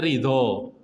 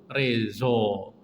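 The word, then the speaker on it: رضا: Rela niku bahasa Arabe ridho. Basa Persiane, basa Urdune niku rezo. Nek enten wong jenenge Reza niku adalah kata ridho tapi diucapkan oleh wong-wong Iran, orang-orang Afghanistan, orang-orang India itu ridho niku macane rezo.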